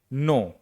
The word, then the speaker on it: know: देखिए, KNOW starting में है, N के पहले क्या है, K है, K साइलेंट है। नो, नो का मतलब होता है जानना।